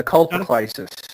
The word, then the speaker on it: Colpocleisis: So what you're in Crepitation as well as being in am I pronouncing it right? Colpocleisis? Yeah, Colpocleisis.